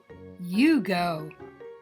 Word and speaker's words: Hugo: Long U vowel sound. Boys and girls, meet Hugo. Hugo. Do you hear the long U sound at the beginning of his name, Hugo?